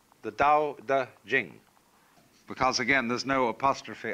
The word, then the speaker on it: Jing: would be pronounced Ching but it's Jing like a j and so Jing in